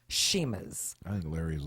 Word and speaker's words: Chima: Although it has CH, it's pronounced Shima's.